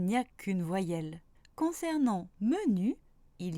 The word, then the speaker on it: menu: Et oui, je suis sûre que vous avez tous pu lire menu. Je ne prononce évidemment pas man-u.